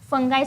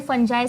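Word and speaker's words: fungi: पण नेमकं याच्यामध्ये फंगाय चालेल, फंजाय चालेल, फंगी चालेल, काही पण तुम्ही प्रोनाऊन्सिएशन करू शकता. It depends on यू.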